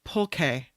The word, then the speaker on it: pulque: It's pronounced pulque.